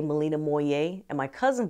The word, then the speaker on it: Malina Moye: This is 60 Minutes, Victor, and we are talking to Malina Moye. How do I pronounce your name? You absolutely said it correctly. Malina Moye. It rhymes with boy.